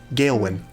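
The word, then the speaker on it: Gailwhin: just for the sake of phonetics could you spell that for me sure uh you her name it g-a-i-l-w-h-i-n gail win what are the odds of spelling itself yeah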